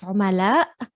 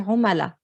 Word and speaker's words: عملاء: And we often, to be honest, we're going to ignore the a. So in standard it's عملاء, but we just say عملاء in Lebanese.